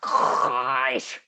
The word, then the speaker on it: Kress: It's pronounced KRESS.